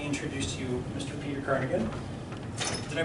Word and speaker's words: Carignan: I pronounce it Carignan, but pronouncing it wrong. I assumed back in the day it was Carignan. Well, it's French.